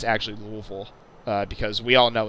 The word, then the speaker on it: Louisville: Two, if I made any factual inaccuracies during this video, besides pronunciation, I'm not interested in you explaining why it's actually Louisville, because we all know it's Louisville.